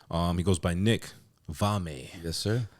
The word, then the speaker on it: Valme: this guy on um he goes by Nick vami yes sir right that's what pronounce the last name absolutely you did it